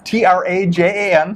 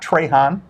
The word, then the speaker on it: Trajan: what trajan wealth yeah t-r-a-j-a-n a lot of people don't know how to spell it uh-huh it's not trey han not not train not trojan it's trajan wealth i know it's a